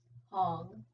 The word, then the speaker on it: Hong: Hong, it rhymes with song, and Sa, it rhymes with draw.